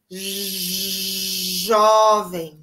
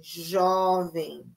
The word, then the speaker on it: jovem: corretor ela é jovem atenção com esse som aqui ó da letra J jovem jovem Quantos anos ela tem